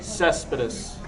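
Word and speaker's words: Céspedes: Yoenis Cespedes, outfielder for the How do Oakland you pronounce A's. that name? Cespedes.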